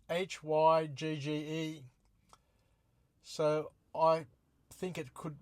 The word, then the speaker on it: hygge: may not be entirely correct, but the word is spelt Hygge.